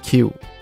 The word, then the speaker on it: きゅう: 八是哈基，九有两个读音，一个是 Q，一个是哭。